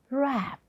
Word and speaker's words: wrap: Wrap. How do you say it? Wrap. Okay. This sound, this middle sound, okay. A is there, right? A is there. Alphabetically, it is A. But when we pronounce it as A over here. Wrap. Wrap. Try it. Your lip is not rounded, okay? Not rounded, little bit flat. Wrap. Okay?